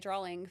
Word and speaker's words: drawing: There's no L in drawing.